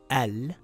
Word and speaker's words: الْعَالَمِينَ: word, it will read Al-Alamin. Al-Alamin. But if we continue reading the sentence, the Hamzatul Wasl gets dropped. So this will read Rabbil Alamin and not Rabbi Al Alamin.